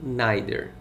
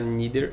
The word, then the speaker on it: neither: Algumas pessoas pronunciam neither. Você pode pronunciar neither ou neither.